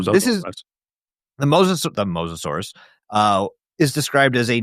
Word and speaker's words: Mosasaurus: And if you want to hear what it's actually pronounced as in the video, it's the Mosasaurus. Mosasaurus.